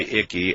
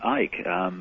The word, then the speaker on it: Icke: Nobody would pronounce their name Icky. But when you were a child, David, based on how it's spelled here, did you have a rough time with this one? No. They called me Ike. They called you Ike? Yeah. I mean, you don't pronounce the C.